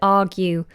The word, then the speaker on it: argue: down argue down now notice how I pronounce the word argue I do not pronounce the R the letter R I just do an open vowel argue argue to argue